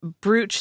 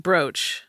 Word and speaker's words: brooch: Pointed out to me recently that I said br instead of brooch.